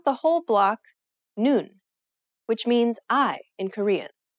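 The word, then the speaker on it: 눈: you read the block the bottom letter is the n sound just like the top letter combining these with the vowel in the middle you pronounce the whole block noon which means I in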